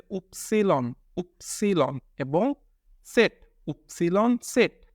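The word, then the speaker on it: Zett: ওয়াই এবং জেড, ওয়াইকে বলতে হবে উপসিলন এবং জেডকে বলতে হবে সেট, সেটটা অনেকটা কাছাকাছি কিন্তু ডাব্লিউটা পুরাটাই পরিবর্তন, তো ওয়াইকে বলতে হবে উপসিলন উপসিলন এবং সেট, উপসিলন সেট।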